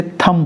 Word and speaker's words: thumb: THUMB बी लिखा जाएगा, लेकिन क्योंकि वो साइलेंट है तो आप उसे पढ़ेंगे नहीं, आप इसे थम पढ़ेंगे।